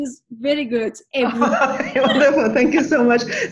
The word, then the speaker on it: Ebru: Your pronunciation is very good. Ebru.